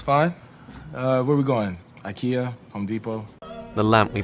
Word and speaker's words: IKEA: brand I know that many non-native speakers say it as Ika however in English we say Ikea be careful what did